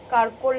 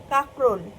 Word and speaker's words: কাকরোল: তরকারি আর কারকলের পুর, কারকল নাকি, যাই হোক বুঝতে পেরেছো, আমি এটা সবসময় ভুল উচ্চারণ করি, কারকল, কাকরোল, কাকরোল, কাকরোল।